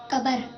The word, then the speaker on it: قبر: کچھ لوگ کہتے ہیں قبر, کچھ لوگ کہتے ہیں قبر. صحیح کیا ہے؟ قبر.